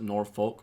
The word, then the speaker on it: Norfolk: Linebacker, 5'10", 219 pounds, out of Norfolk, or as most people would pronounce it, Norfolk, Virginia.